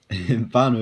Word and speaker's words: whānau: Note that the whānau is pronounced as an F. As with all Māori words that begin with WH.